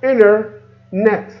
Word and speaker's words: internet: put the words together so internet we remove the T it's become inner net so the word become